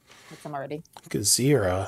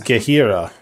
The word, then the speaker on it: Gahira: It is Gahira. Oh, the J is silent.